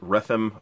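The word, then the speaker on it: Rethem: which we saw before regime some people pronounce it rhythm I say regime because I think it sounds better and the third Achra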